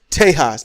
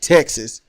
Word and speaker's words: Tejas: Yeah, just to piss y'all off anymore, even further, we'll pronounce it the way it was originally. Tejas, not Texas.